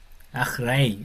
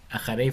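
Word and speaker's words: אחרי: Si fuéramos súper, súper técnicos, este A sería como un A como con una aspiración un poco rara, así como A, ja. Este sería un ja fuerte, como una J fuerte, pero esta semivocal sería una A muy corta. Ajray, algo así debería ser como más técnico.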